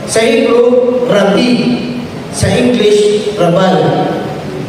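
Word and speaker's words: rabbi: Ano sasabihin SAO father it's not rabi It's rabay sa Hebrew rabi sa English rabay so depende na saakin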